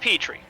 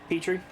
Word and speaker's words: Petrie: have a different uh oh pronounced Petrie okay Petrie yeah you know like people and the character from The Land Before Time and the dish